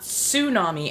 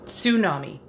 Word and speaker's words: tsunami: It's not tsunami as in su, it's tsunami as in tsu.